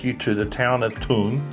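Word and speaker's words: Tulln: Tell that cab driver to take you to the town of Ton." Ton. T U L L N is how you spell it.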